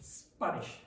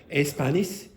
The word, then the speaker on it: Spanish: this word you see that there's an S and a sh sound inside that word so say that word for me Spanish Spanish Spanish yes now if you if Louise does not concentrate you might hear Espanish you might hear Spanish or Spanish or Espanish okay Etc you very rarely